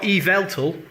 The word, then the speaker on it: Yveltal: We've also got Yveltal, and I know that's how to pronounce it because they gave a phonetic description on the Pokemon website of this.